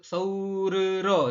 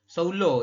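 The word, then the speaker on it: 서울로: Gak usah Soulro itu gak usah ya, tapi langsung Soulo ini ya. Jadi dibacanya Soulo karena double real ya. Oke, Seoul langsung pakai ro. Nah, Soulo dibacanya ya, bukan Soulro, bukan, tapi Soulo. Seperti itu.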